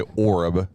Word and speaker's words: Horeb: I think they pronounce it Horeb, if I remember right. I would say Orab. It's like herb. Herb. Greens and herbs.